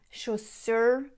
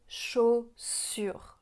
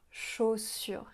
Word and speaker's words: chaussures: Ce qu'elle pourrait améliorer, par exemple, c'est qu'elle dit chaussures au lieu de chaussures. Chaussures. Rappelez-vous que la lettre U, ça fait le son U.